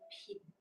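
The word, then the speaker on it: 品: This layout is a shape like a Chinese character pin, pin, pin. We pronounce it pin.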